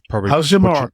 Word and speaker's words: Hachimura: We've got Austin Reeves with 23 points and Rui Hachimura. Hachimura. You got it. Yeah, got his pronunciation okay.